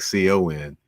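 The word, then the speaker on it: Khan: know you said you hear it sounded like Co n yes that's and you keep wondering is uh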